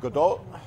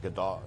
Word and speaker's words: Gadot: So, All right, Gal Gadot. Is that how you say it? Gadot? is that right? It's weird. It's not really. If you say it with the accent, it's like Gadot. It's supposed to be.